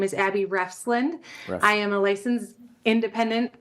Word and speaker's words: Refsland: My name is Abby Refsland.